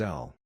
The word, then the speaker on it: Al: Al was commonly pronounced as El.